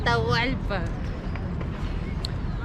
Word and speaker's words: Atahualpa: But the great Incan leader at the time, Atahualpa, how do I pronounce? Atahualpa.